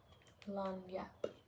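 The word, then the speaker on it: lagniappe: Lanyap. Okay, that's how you pronounce it.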